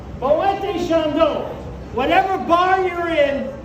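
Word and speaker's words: Moët: M Shandon bottle and I know a lot of you are saying he's too stupid to know it's pronounced Mo only Americans call it MO Shan the reason is he was Dutch not French Shan was the smart Frenchman who married into the champagne fortune and it is still pronounced boet like wet boet Shand whatever bar you're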